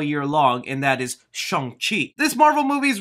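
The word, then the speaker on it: Shang-Chi: it wrong all year long and that is sheng chi this marvel movie is right now kind of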